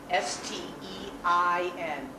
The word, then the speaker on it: Stein: S-T-E-I-N. The I is the second vowel, so it's pronounced Stein. Many, many, many people are going to come to you asking for a Riesling.